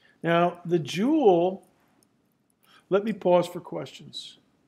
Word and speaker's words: joule: work is known as the jewel and I've heard guys from India that didn't learn English in the ordinary manner pronounce that jowl but most people call it the jewel 1.0 kilogram meters squared